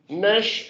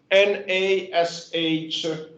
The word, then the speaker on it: Nash: It's called Nash Efficiency, and it's written N-A-S-H, Nash, from the family name of a scientist who proposed it in 1968.